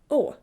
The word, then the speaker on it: Å: or A, pronounce it Å. Just pronounce the bubble. Sometimes it's also written with 2 A's one after the other. It's just pronounced the same. Å, exactly like the English O.